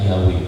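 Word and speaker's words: Yahweh: dari buku ini terbukti pelafaran yang benar yang lebih mendekati kebenaran yang paling tepat adalah yahwe bagaimana menentukan yang benar dari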